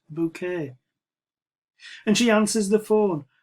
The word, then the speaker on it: Bucket: definitely not portion a surname is bucket but she pronounces it bouquet and she answers the